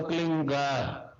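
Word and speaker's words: क्लीं: फैले उस होता है एक शब्द क्लीन शब्द क आधा ल में मिला हुआ बड़ी की मात्रा और बिंदी उसका उच्चारण होगा क्लिंग प आप अंग बोलो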